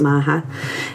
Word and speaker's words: Macha: It's uh spelled like Macha, but it's Macha.